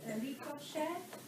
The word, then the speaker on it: ricochet: Even if you don't know the word, based on the sound, ricochet is ricochet. It not ends in a shay, ricochet. It ends in an A.